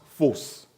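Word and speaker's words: φῶς: You know, that word light comes from a Greek word which is pronounced phos.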